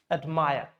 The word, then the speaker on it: admire: So I told you, when it's verb, stress should be on the second syllable. So the stress is on this one, admire.